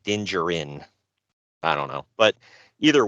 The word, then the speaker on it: Din Djarin: Yeah, it's Din Djarin, I think is how you say it, or Din Djarin, however you emphasize it. I don't think you pronounce the D.